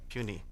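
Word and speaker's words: puisne: and at least two puny judges. It's spelled P U I S N E but it is not pronounced it's pronounced puny.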